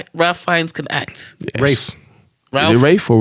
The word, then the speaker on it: Ralph: If you say Ralph Fiennes, you're wrong. His name is Welsh. It's pronounced Rafe Fiennes.